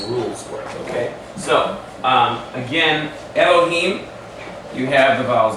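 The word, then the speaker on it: אֱלֹהִים: and say, Baruch atah Elohim. You know, it doesn't sound right. It's a short E sound. So it's Elohim.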